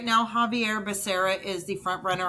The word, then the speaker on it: Xavier: Javier Becerra, but it's spelled Xavier.